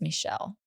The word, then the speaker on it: Michel: And it is pronounced Michelle. So, kind of like French Michael.